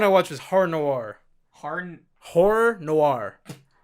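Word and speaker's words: Horror Noire: Horror Noir. It's hard to say, I know. Horror Noir. You butchered that first time. You went hard noir.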